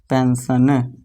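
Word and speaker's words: pension: देखिए दोस्तों पी इ एन एस आई ओ एन है ना? एस है। इसके बाद आई एन तो इसे क्या पढ़ेंगे? पेंशन।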